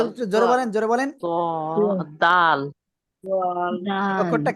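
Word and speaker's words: دال: জোরে বলেন জোরে বলেন দাল দয়াল অক্ষরটা কি দাল মাশাল্লাহ ওকে এটা হলো দাল কি বললাম দাল কি বললাম দাল জিহ্বা লাগা সামনের উপরে দুই দাঁতের গোড়ায় লাগান লাগিয়ে শক্ত আওয়াজে উচ্চারণ করতে হবে একটু দাল তিন আলিফ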